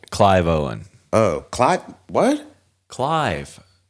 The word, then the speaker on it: Clive: And then you have Seville. Is that Seville Owen? Is that how you pronounce his name?